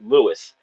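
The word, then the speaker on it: Lewes: beach is spelled uh L E Wes they pronounce it l but it's Lewis it's Lewis Beach like yeah we're down here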